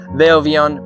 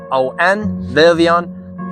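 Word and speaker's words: Willvion: I'm trying to kind of make a business work called Villvion, which is spelled W-I-L-L-V-I-O-N, Villvion.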